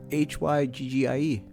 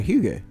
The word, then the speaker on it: hygge: Hygggie. Yeah, but you gotta say it correctly and enunciate. How would you say it? What do you mean? How? That's the way it's said, right? Yeah, hygge.